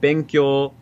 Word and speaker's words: 勉強: And so if you take like benkyo, that's like flat.